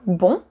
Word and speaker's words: bon: Par exemple, bon devient bonne. And the sound is really different. Bon, that's the nasal vowel. Bon devient bonne. And here you open way more.